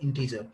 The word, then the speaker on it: int: और इसमें सबसे फर्स्ट कंसेप्ट आता है इंटीजर, शॉर्ट में हम INT लिखते हैं, बट इसको प्रोनाउंस क्या करेंगे, इंटीजर।